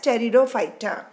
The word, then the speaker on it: Pteridophyta: carefully cherried a fighter in which letter P is silent so we pronounce it as Toledo fighter now what are the